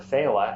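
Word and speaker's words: Féile: f-h-e-i-l-e in this case the word feila f-e-i-l-e um it's a word where to stand alone refers to a festival in Bridget b-r-i-d-e refers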